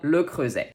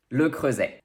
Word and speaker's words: Le Creuset: a in french and s between two vowel sounds sounds like z and of course the french is also here so get ready to practice le crosse that will be it